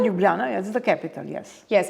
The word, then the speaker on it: Ljubljana: I'm going to, I'm going to see if I pronounce it right. Ljubljana? Ljubljana, yes, the capital, yes.